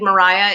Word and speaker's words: Maria: is is fun um i played mariah in 12th night yes that is actually how you're supposed to say her name we had a whole